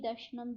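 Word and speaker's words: दर्शनम्: दृश्यते यथार्थ तत्वे अन्नम इति दर्शनम। जिसके पीछे, जिस चीज़ के भी पीछे ऐसे डॉट लगा हो ना लास्ट में, उसको म प्रोनाउंस करते हैं, उसके लास्ट में म आता है।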